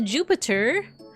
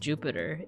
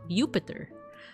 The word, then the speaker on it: Jupiter: wouldn't have been pronounced Jupiter back in Roman times. It actually would have been Jupiter. Um with with like a Y sound.